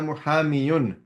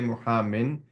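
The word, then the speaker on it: مُحامٍ: have been omitted and the noon of the tanween has been transferred to the preceding letter. So for example, ana muhamin. So the real way to say was ana muhamiyun, right? But we'll not say it like this. We'll simply say muhamin.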